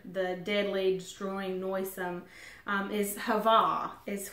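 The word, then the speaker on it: הַוָּה: the descriptive word the deadly destroying noisome is hava is how it's pronounced and I'm just gonna give you again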